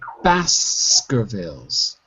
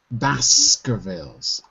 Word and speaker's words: Baskervilles: The pronunciation of the last word is Baskervilles. Baskervilles.